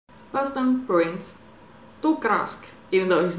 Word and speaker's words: Tuukka Rask: Tuukka Rask, even though he's not there at the moment.